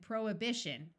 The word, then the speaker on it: prohibition: as vehement vehicle and prohibition note that the root prohibit has the H pronounced but once you add the shun the H sound disappears there are some names